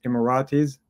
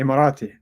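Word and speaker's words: إماراتي: that they usually use immiratis uh and in Arabic you say immirati Iirati and one person still I immirati the the the plural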